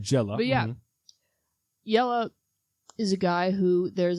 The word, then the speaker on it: Jelle: called yellow's marble cast yella is spelled with a J it's a guy from